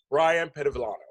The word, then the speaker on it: Bryon Pedevillano: Bryon Pedevillano. There you Thank go. you. Yeah. I pronounced it's good.